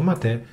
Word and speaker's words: Mate: nella homepage del progetto matè Da dove deriva il nome Il nome Mate pronunciato matate deriva da ierba Mate